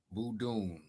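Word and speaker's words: Vodún: wikipedia here we go voodoon meaning spirit of the fun gun goon e-way languages pronounced voodoo with the nasal high tone you also spelled what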